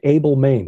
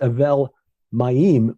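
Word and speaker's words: Abel-Maim: spelled Abel Maine a-b-e-l-m-a-i-n you know English we'd read it say Abel Maine what is that well Lipinski points out that means a vet in Hebrew that's Avail maim which means Waters of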